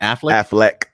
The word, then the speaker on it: Affleck: Affleck.